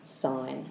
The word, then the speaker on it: sine: It's short for sine, like that, but it's pronounced sine, even though there's no E.